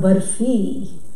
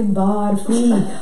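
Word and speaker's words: बर्फ़ी: It's called barfi, and the Americans say barfi, unfortunately. Barfi, like Murphy, okay? Yeah, not barfi, okay?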